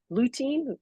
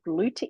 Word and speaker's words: lutein: It has lutein. Lutein, is that how you say it? Lutein, Routine. yeah, lutein.